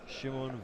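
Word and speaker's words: Šimon: How to pronounce in Czech-Slovak? Shimon. Shimon Varos.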